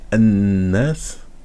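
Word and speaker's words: الناس: Et donc là, on ne prononce pas ici, parce qu'il y a une shadda, et quand il y a une shadda, le lam qui est avant, on ne le prononce pas.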